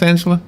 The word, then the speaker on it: Angela: Is it pronounced Angela?